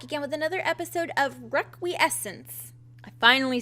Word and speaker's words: Requiescence: frog gina back again with another episode of requiessence i finally said it right and i'm finally